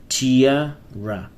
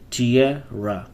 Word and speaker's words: tiara: a ruler in ancient Egypt Pharaoh 22 Crown Tia ra Tia ra Tierra what does it mean Tierra crown yes